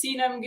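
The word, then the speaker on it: Sena: brand new here um my name is Cena I know it might be hard to pronounce it's a Turkish name but that's how you say it um I'm obviously an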